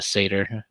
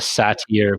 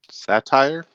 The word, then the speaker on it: satyr: You want to call it satyr, but I think it's satyr. I think that's the Yeah, right way to say satyr. it. Satire? Yeah, satire. Yeah, that's what like satire.